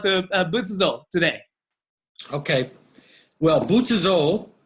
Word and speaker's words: Butsuzō: Buddhism today okay well butazole is the Japanese pronunciation of a Chinese word and the Chinese word